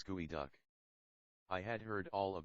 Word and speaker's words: geoduck: succulent of all Seafood jodu by the way is pronounced by the Indian gooey duck I had heard all